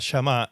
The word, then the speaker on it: shamá: la palabra oír, que en hebreo se dice llamá. Yamá se escribe s h a m a.